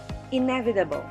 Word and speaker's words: inevitable: here are the examples inevitable e for syllable second syllable v third syllable ta fourth syllable bull fifth syllable the stress is in net second syllable inevitable supplementary the